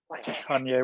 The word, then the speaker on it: Kanye: Kanye, all right. What's going on with Kanye? Or Kane, as you say, right? I love it when you pronounce his name first, because then I can remember how to pronounce it. You can echo. You're good at the echoing. But if Yes. I were to give you this story, you would probably have diverted back to Kane, wouldn't you?